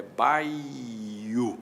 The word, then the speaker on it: baiuca: Se eu pegar uma palavra como baiuca, baiuca, no papel, na separação silábica, eu vou ter bai u. Na verdade, na verdade a emissão não é assim. A emissão é baio.